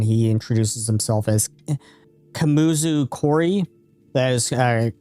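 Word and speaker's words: Koury: And he he actually bows to you and he introduces himself as Kamuzu Corey. That is spelled K O U R Y.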